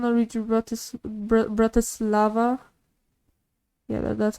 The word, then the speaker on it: Bratislava: they just want to read you about this Bratislava yeah that's how you say it and they